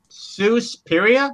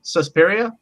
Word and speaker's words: Suspiria: intriguing as well and that is a might mispronounce it suffice now if I say it wrong please correct me um sue spiria Suspiria alright Suspiria so uh this is a horror